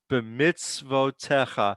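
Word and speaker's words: בְּמִצְוֺתֶיךָ: the segol yud, that's different than the others. It doesn't change the sound. The yud is silent there. B'mitzvotecha.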